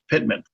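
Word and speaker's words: PTMAN: example the PT ma n waypoint would be pronounced Pitman the proposed flight procedures are colored purple for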